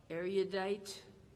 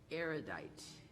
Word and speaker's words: erudite: Okay, this This word has two pronunciations, erudite or erudite.